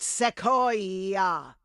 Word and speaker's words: Sequoia: It's pronounced Sequoia. Thank you, Sequoia. I got it now.